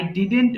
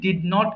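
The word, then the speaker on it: didn't: ফর ইউ আই ডিডেন্ উচ্চারণটা হবে কি? ডিড নট কে আমরা একসাথে ডিডেন্ট বলব। অনেকে ভুল করে ডিডোন্ট বলে ডিডোন্ট বলার দরকার নেই সিম্পল ওয়েতে বলবে আই ডিডেন্ট ডু আমি করি নাই তাহলে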